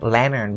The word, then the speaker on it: lantern: We talked about the word lantern because the T is actually following an N sound, and that's why we completely dropped the T sound, right? So for the word lantern, we say lantern instead of lantern.